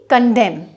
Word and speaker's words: condemn: एक और वर्ड है जैसे कि कंडेम। कंडेम की स्पेलिंग होती है CONDEMN, वहाँ पे भी एम के बाद एन है तो हमारा जो एन है वो साइलेंट हो जाएगा, कंडेम।